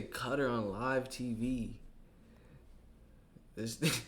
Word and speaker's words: Qatar: It's Qatar. So they say cutter on live TV.